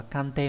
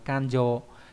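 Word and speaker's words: 勘定: Trong chữ khám, chữ định không đọc là kante mà đọc là kanjo.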